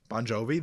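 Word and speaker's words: Bon Jovi: for you you might if you see it on paper you might mispronounce Bonjovi because like G I vi you know like it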